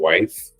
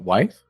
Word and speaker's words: Wythe: I really started getting into this brand called Wife. It's based in New York. It's like Americana, Western kind of vibe. How do you spell that? Wife?